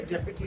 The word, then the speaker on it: deputy: बच्चों इसे डिप्टी pronounce नहीं करते हैं जैसा कि हम हिंदी में करते हैं, इसे डेप्यूटी प्रेसिडेंट कहते हैं.